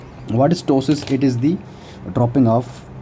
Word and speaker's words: ptosis: This P is silent, not this is not ptosis, this is ptosis.